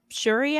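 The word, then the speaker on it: Syuri: think it's it's shuri I think it's all they were pronouncing it maybe Siri I can't maybe pronouncing that completely wrong because it throws me off the spelling is s-y-u-r but it's not pronounced that way yes I think it was sure it sounds like they were pronouncing it with an H is how it sounded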